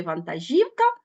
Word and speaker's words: вантажівка: наголошений другий склад а в слові вантажівка наголошений третій склад До речі в слові